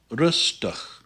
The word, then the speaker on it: rustig: The IG is pronounced kind of like an ugh sound. So this is pronounced rustig, rustig.